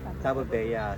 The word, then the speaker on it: Tabebuia: So tamang pronunciation ay Tabo Tabo Bea.